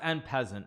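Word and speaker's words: en passant: It's pronounced own passon. No, it's pronounced en peasant. XQC speaks French. He's like, he's French is his main language. If he says en peasant, he knows how to pronounce it better than anybody else.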